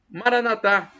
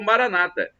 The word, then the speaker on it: Maranatha: do aramaico Eu Clamo Maranatha como dizemos nós católicos ou Maranata com a tônica na penúltima sílaba como os dias como dizem os evangélicos ou protestantes nossos irmãos separado não